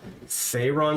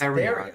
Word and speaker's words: Therion: Dave, is your character Thayron Stormmoon? No, it's Therion. Therion Stormmoon. which is the Yeah. proper way to say his name, because the character existed long before you played him.